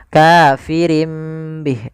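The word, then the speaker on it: كافرين به: Karena dia ganti surah nunnya. kafirim bih diganti dengan huruf mim. Kemudian ketika kita melafalkan ini kafirim bih itu sebenarnya ada dua cara baca. Yang pertama dengan idbaq, yang kedua dengan sufada furjah. Tapi kita mengambil yang itbaq saja yaitu bibir kita tertutup dengan rapat. Kafirim bih.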